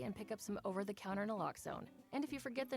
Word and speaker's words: naloxone: For the record, it's naloxone. Na, like, is naloxone addictive? Nuh-uh. Lox, like naloxone keeps humans safe like locks keep bikes safe, and own, like naloxone can save lives in our very own communities.